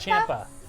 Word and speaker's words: Ciampa: Champa? Ciampa? Well, that's how it's pronounced. It's not spelled that way. Okay, it's spelled with an I then.